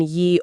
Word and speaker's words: ye: English used to have a completely different alphabet and the ye in ye old pub is actually pronounced the.